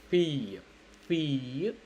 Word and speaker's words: fille: There is L, but you're not pronouncing L. Yeah, that's what how French is. Unfortunately, you shouldn't spell. If two L's are together, you mostly don't spell it. Okay, mostly 90% of the time I would say you wouldn't spell it.